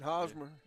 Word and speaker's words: Hosmer: Does Hashmeir by the Is that how you pronounce that? How you pronounce that? Coach number 14. Hosmer. Hosmer. You've heard it both ways.